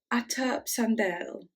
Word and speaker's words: Återuppståndelse: It's pronounced Källans Återuppståndelse.